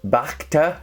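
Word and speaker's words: Bhakta: The first one is and I always get the pronunciation of this one wrong because it starts off BH, but Bach. Bacta 1928 Golden Age Blend.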